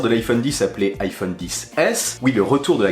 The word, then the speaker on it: XS: les iphone 2018 s'appelle iphone x s prononcé 10 s oui ça peut prêter à confusion beaucoup d'ailleurs diront xs est ce un mal